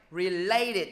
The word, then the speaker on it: related: Related, nhấn vô thứ hai.